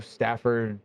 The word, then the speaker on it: Stafford: We are back at yet another Formula Drift, and this time we are in the brand new Stafford Motor Speedway, right?